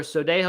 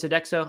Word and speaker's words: Sodexo: sounds kind of familiar Sodexo or sodejo I don't know how to say it so next one it is Sodexo I thought it was